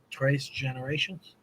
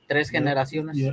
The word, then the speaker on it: Tres Generaciones: brutalize the pronunciation, but Trace Generations. Tres Generaciones.